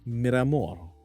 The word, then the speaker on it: Miramor: But my nickname is pronounced M- Miramor, which translates to marble in English.